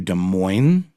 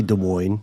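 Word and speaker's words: Des Moines: youngest sister moved to De MO is it is you just pronounce the S I say De Moine De Moine I'm going to go with de Mo Iowa um and that's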